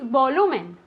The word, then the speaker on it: volume: The next word is volumen. Very good. Volume. Be careful, okay? The accent goes on the O. Volume, not volume like in Spanish, okay? Because in Spanish it's volumen. In here it's volume.